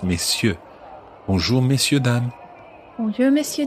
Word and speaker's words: messieurs: And note that you don't pronounce the R in messieurs like that. It's messieurs.